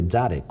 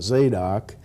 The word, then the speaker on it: Zadok: His name was really Tzaddik, wasn't it? His name was really tzaddik. In English it comes out Zadok, or, you know, in Oklahoma...